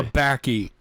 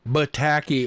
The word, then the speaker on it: Tabaki: I just pronounced it correctly. Tabaki. Tabaki. You and your wacky tobacco. You keep saying bataki or pataki.